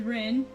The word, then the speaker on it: Ren: body of her yeah this is Rin like r-e-n um it's pronounced the same as Ren like the bird so I have a